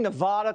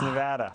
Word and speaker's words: Nevada: First of all, Adam, am I saying Nevada correctly? I screw it up all the time. I'm sorry to report, Jesse, you're not saying it correctly. It's Nevada. Nevada, I knew it.